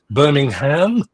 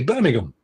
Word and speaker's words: Birmingham: We don't say Birmingham, we say Birmingham. We don't say Devon, we say Devon.